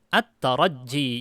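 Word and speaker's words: التَّرَجِّي: Bacanya at-tarajji, jimnya ditasydidkan.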